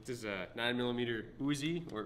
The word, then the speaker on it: Uzi: is a nine millimeter uzi or utse as it's pronounced in israel this is an actual